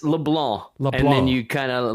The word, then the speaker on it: LeBlanc: Because it's LeBlanc, and then you kind of let the end part you don't have to pronounce the NC, so it's right. LeBlanc.